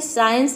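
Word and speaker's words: science: मतलब होता है दृश्य तो सभी वर्ड में आप देख सकते हैं एस सी एस सी एस सी एक साथ आया है तो यहां पे हम सी को साइलेंट रखते हैं केवल एस को प्रोनाउंस करते हैं कब प्रोनाउंस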